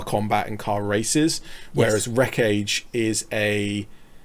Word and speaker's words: Wreck Age: But just to start off with, this is one of the Wreck Age minis, and Wreck Age is spelt wreckage but with a dash, and it's a post-apocalyptic